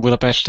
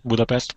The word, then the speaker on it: Budapest: just some but anyway I don't live in Budapest and and Budapest is U far away from